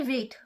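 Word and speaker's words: weight: से सबसे पहला है वेट वेट का भी जी जो लेटर है वो साइलेंट है हाफ हाफ का भी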